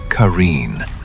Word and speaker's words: Qareen: But the Qareen, pronounced Qareen, you cannot escape.